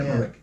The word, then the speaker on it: Emmerich: Emmerich? Oh, Moonfall, Roll- it's not Roland Blacklight. Emmerich, yeah. Emmerich, yeah.